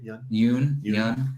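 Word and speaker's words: Yeun: Yoon.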